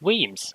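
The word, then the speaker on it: Wemyss: doing curved stations anymore and rename it it's pronounced weems okay i uh yeah i i did not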